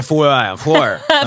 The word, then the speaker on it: Foer: Je ne sais jamais comment prononcer son nom de famille, mais ça, c'est parfait. Foer, comme ça.